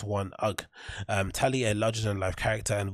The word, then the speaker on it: UGG: Oh, is it UGG or UGGs? It's UGG.